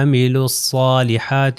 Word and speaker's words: عملوا الصالحات: آپ اس کے اندر عملوا میں واو اور الف نہیں پڑھا جائے گا، الصالحات میں جو ہے الف اور لام نہیں پڑھا جائے گا، تو یہ ہو جائے گا عملوا الصالحات، یہ صاد دوبارہ یاد